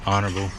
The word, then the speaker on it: honorable: there's another 33 involved that's 133 that can be an honorable mention it's the honorable the H is silent silent of mine lint